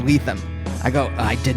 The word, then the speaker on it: Lethem: goes all right uh do you know how to say my name and I was like I don't think I do he's like it's letham I go I did